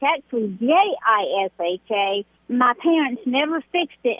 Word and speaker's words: Jisha: So how do you say the Jisha? Yisha. Oh, so you make the J silent. I gotcha.